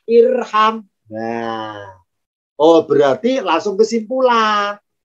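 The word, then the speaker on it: ارحم: Kalau huruf ketiganya fathah, alifnya tidak ikutan fathah, tapi tetap kasrah, maka bacanya irham.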